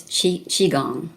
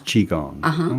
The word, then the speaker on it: qigong: yourself that got you to is it properly pronounced qigong it's qigong it is qigong okay well on alternative health tools we have